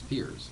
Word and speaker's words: Piers: Piers, not Piers. Pierce. It's Piers. Right, correct. Piers. Yeah, everyone says it wrong. They all say Pierce.